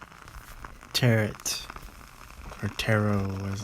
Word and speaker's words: tarot: more rigid and absolute nature terret or taro as it's pronounced probably the eighth card of the major